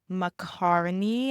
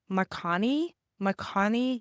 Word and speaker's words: Marconi Union: So make matcha and listen to Weightless by Macaroni. I feel like I'm pronouncing that wrong. Marconi Union. It's Marconi and then Union.